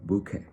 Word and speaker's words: bouquet: So in French it would be like bouquet, a little bit of less pronounced T sound, which is silent in both languages but still has a